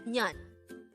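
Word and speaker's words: 년: word number 231 Neon this is pronounced as one syllable word and this is pronounced as Nyan pronounce it with me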